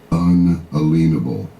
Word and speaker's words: unalienable: north of Bozeman, before I hear another man pronounce the word correctly, unalienable.